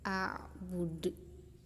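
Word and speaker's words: أعبد: kalimat, namanya qalqalah kubro, jadi bacanya a'bud, jadi memantul a'bud.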